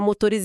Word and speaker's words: motor: Para motores elétricos, a palavra motor, que se pronuncia motor, com força no mó, também existe em inglês e é mais comum nesse caso.